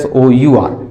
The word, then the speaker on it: sour: R silent है, SOUR, sour. यह साड़ी तुम्हें बहुत अच्छी लगती है.